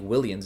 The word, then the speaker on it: Willians: It's tough because I think Willians is the L. Correct. And then Astudillo is a Y.